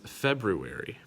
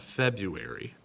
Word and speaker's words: February: of the year called it is february you got to hear that rue in their february not february also what is the